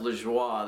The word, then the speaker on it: Lajoie: And by the way, it is actually pronounced LaJoie. The dude's from Montreal, and that's a not uncommon French-Canadian name.